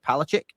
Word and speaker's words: Palachik: And also, Professor Dave Palachic, am I pronouncing that correct, Dave?